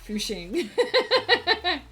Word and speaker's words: Fucking: It's like if you live in the town of fucking, they pronounce it Fushing.